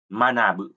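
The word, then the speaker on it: 学ぶ: Bưng gạc cự, văn học Đấy, chữ văn và chữ học, bungaku và chữ này đứng một mình, âm cưng thì chúng ta đọc là manabu, học hành, học.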